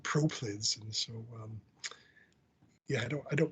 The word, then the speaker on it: proplyd: It's proplyd. If I remember correctly, it's spelled PROLYD, proplyd, and I'm not quite sure